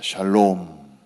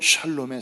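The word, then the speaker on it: שלום: 샬롬 한번 따라 하십시다 샬롬 발음 잘못하면 욕처럼 들리기도 해요 샬롬이 평화 평화 그러니까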